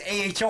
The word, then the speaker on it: Aho: whatever um so Sergeant AO I thought it was pronounced AO it was aho I thought it was AO you know I was a long a so he he told